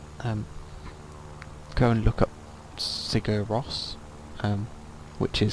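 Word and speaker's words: Sigur Rós: of a concert um go and look up cigar Ross um which is spelled s-i-g-u-r-r-o-s um really nice band interesting music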